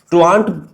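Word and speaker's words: truant: फिर ट्रू आंट इसको pronounce ऐसे करते हैं। ट्रू आंट।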